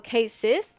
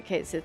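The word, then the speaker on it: Cait Sith: Oh, Kate Sith?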